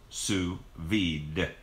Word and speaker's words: sous vide: Spelled S-O-U-S space V-I-D-E and pronounced sous vide. That's the way we do it in English.